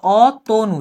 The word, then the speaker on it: অতনু: অতনু, তুমি কিন্তু ওকার উচ্চারণ করছো, অতনু, সেভাবে হচ্ছে উচ্চারণটা হবে।